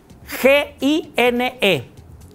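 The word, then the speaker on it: γυνή: referir a una mujer el primero es gine G i n e se pronuncia gine Qué es gine o sea gine es mujer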